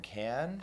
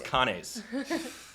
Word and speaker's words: Cannes: recently you were in Cannes I was like so you pronounced it I thought it was Kane's not surprised how was